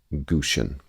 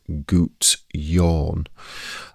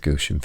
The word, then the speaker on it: Gusion: n for this spirit is sour vessa anet gushian. Now um just on the pronunciation aspect I have uh seen a few people um say that this spirit is pronounced as gout yawn.